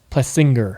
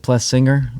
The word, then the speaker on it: Plessinger: Either way is good with me, but I What's always the proper way. I always say my Plessinger. Yeah, my dad's mom always says it Plessinger.